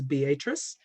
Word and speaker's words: Beatrice: beatrice nebraska it's spelled beatrice but it is pronounced by the locals as beatrice so she was born in beatrice nebraska in 1923 she described her background as